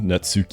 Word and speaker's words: Natsuki: Natsuki is actually pronounced Natsuki.